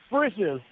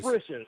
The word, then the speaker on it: Frisch's: Frisch's. See, I hear that and I still don't even know what you're saying. Sounds like you're saying britches, Like but dishes, fritches. Frisch's. Say it again. Frisch's.